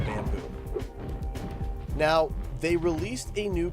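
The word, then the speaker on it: Bambu: It's spelled B-A-M-B-U. They're very coy with it. B-A-M-B-U. Bamboo.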